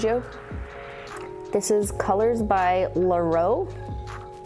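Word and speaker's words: Llarowe: This is Colors by Laro. Laro, which is spelt L-L-A-R-O-W-E.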